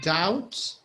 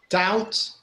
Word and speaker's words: doubt: lamb we have a doubt we have i think these are the ones i can think of all these words the b is silent so we say lamb doubt doubt undoubtedly okay so